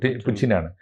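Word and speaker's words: Путин: തീർച്ചയായിട്ടും ഭരണകൂടത്തിനെതിരായിട്ടാണല്ലോ അപ് പുച്ചിന്റെ Putin എന്നല്ല ശരിയായ ഉച്ചാരണം പുച്ചിനാണ് അപ്പോ പുച്ചിന്റെ കാമുകി സൂചിപ്പിക്കുന്ന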